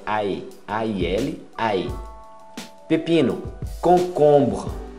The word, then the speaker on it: concombre: Concombre. Você fecha bem esse concombre. Até o BR. Não pronuncia o E.